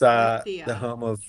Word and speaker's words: Murcia: pronounce it. Murcia. Murcia. It's Murcia.